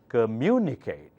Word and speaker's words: communicate: take few more examples this one has many parts cur mu knee Kate mu should be pronounced louder because the accent mark is on mu okay communicate repeat after me communicate communicate communicate now faster